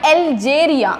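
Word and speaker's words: Algeria: सो एल्जेरियाचं जरी ए पासनं spelling असलं किंवा अ पासनं सुरुवात असली तरी पण त्याचा साऊंड एल्जेरियावरून एल.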